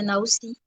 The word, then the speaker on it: Naoussi: Oui, vous prononcez bien, c'est Naoussi.